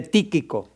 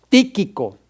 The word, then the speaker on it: Tíquico: ahí habla de de tíquico tíquico con acento en la i voy a ponerlo aquí